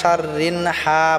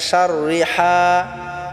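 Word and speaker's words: شَرِّهَا: পড়বো এখানে আবার শাররি অনেকে আমরা আছি যে এখানেও আমরা শাররিন হা বলি শাররিন হবে না এখানে শাররিহা সিদিন ইদা আমরা পাতলা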